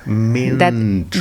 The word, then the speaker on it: Mindru: But how do you say it in your native country, Romania? You would say it Mindru. Mindru. That E is U. It's like a.